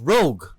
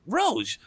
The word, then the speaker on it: Rouge: Rouge because for anybody, I've heard the name being pronounced Rogue from other people in my life. So whenever I hear the name correctly pronounced Rouge, I'm like, yes, that's the one.